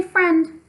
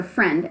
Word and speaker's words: friend: anything like that we just say friend but it has an I in there and it comes before the e so friend FR i.e ND friend and again that's one you just have to learn it's not following our rules that we've learned about vowel sounds just kind of have to practice it and memorize it and the more you write